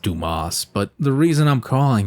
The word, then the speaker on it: Dumas: during act 3 you team up with alexander dumbass to protect paris now i know it's pronounced dumas but the reason i'm calling him dumbass is